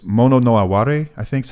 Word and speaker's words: mono no aware: this Japanese concept I'm going to butcher the pronunciation because it it's tough to translate it's mono no aware I think is how you say it it's